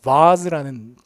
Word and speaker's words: vase: 근데 여기 이제 영국식이 되면 베이스가 아니라 뭐가 되냐면 vase라는 발음으로 나오죠. 그래서 이런 영국식 발음들.